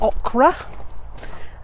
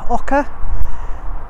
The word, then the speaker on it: oca: It's not okra. It's ochre. O-C-A. Ochre. Ochre.